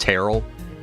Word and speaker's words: Terrell: and I know there is a city in Texas that apparently is pronounced Terrell.